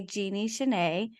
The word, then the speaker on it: Genie Chanai: I have Chanai, aka Genie Chanai. Am I pronouncing your name correctly?